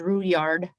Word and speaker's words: Roulard: name is trudy uh my maiden name is roulard uh my aunties corrected me and said it's the french indian uh pronunciation which is root yard and then my married